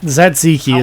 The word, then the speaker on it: Tzatziki: small Tzatziki is apparently how you pronounce it.